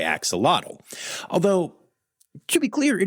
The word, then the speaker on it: axolotl: And the way it is pronounced in that language is axolotl. And there's this weird, like, roly-trilly thing that you do with your tongue at the end, which I did pretty well there, actually.